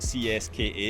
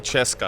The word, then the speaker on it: CSKA: It's because in Scotland we call it CSKA because I always remember playing them in Europe. Anyway. Some places they call Cheska.